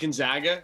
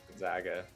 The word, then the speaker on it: Gonzaga: the best team and he's pronounced gonzaga actually just let you know gonzaga i think they're definitely